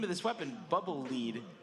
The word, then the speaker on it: Lead: And we were never sure if it was Bubble Lead or Bubble Lead. And it wasn't, for me, it wasn't until I played the Japanese version that I realized it's Bubble Lead.